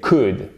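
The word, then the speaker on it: could: café longue on met pourrais-je c'est coude on ne prononce pas le elle bien évidemment vous savez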